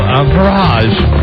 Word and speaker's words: Entourage: You've won an HBO Entourage.